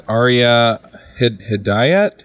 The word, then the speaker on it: Ariya Hidayat: We also have a special guest, and that's Ariya Hidayat.